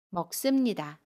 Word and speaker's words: 먹습니다: 동사 먹다에 씁니다를 붙인 먹습니다는 먹습니다 라고 발음해요. 받침 기억은 그대로 발음하고요. 습은 씀으로 발음합니다. 먹습니다.